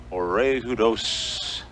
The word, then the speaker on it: Oriadus: Oriadus is the way they pronounce it.